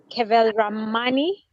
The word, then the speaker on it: Kewalramani: of the day his name is rotarian kevel ramani yeah i think i pronounced that right yes he's from the rotary